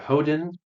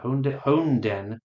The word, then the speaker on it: Honden: I will play a Mirrored Landscape and use that 4 mana to play Hoden of Cleansing. Yeah, Honden. I've been pronouncing some of these things wrong, and I apologize. Honden, or Honden of Cleansing Fire.